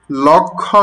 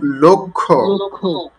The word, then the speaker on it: লক্ষ্য: তারপর দেখুন, লক্ষ্য করো, উচ্চারণটা কিন্তু লক্ষ্য নয়, লক্ষ্য। কারণ হলো ল একটি অধ্বনি না, ল ল বলার সময় শেষে কি অধ্বনি আসে, অধ্বনির পর যদি ক্ষীয় আসে, কি আসে, ক্ষীয় থাকলে উচ্চারণটি ও এর মতো হয়, যেমন লক্ষ্য, পক্ষ, কক্ষ, বুঝে আসছে?